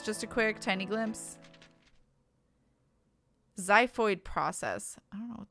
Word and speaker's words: xiphoid: I realized then, of course, that I had no reason to worry about peeing my pants because apparently the X in xiphoid process is pronounced like a Z.